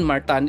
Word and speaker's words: Martin: Martin Martan is the pronunciation.